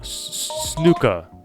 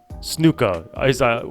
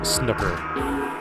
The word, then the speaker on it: snooker: this would be you can't have the hard r on snooker so snooka Snuka I what I assume people wanted us to pronounce it as instead of the the American way of saying it as snooker thank you uh